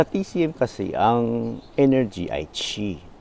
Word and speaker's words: qi: Sa TCM kasi, ang energy ay chi, o spelling na Q-I, pronounced as chi.